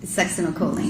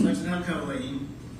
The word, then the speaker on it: succinylcholine: And so, if the, butcher the pronunciation, you pronounce it. Succinylcholine. Succinylcholine was administered in the ICU because after she